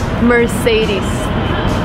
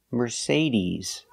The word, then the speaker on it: Mercedes: we say Mercedes Mercedes the final sound is not s like Star it's Z like zebra Mercedes Mercedes put the stress on the second syllable Mercedes remember it's not Mercedes it's Mercedes use a long e sound at the end e ease Mercedes example